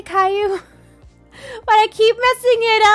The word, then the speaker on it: Caillou: don't think I have either oh AFK it's pronounced Caillou yeah I've been I've been trying to say Caillou but I keep messing it up thank you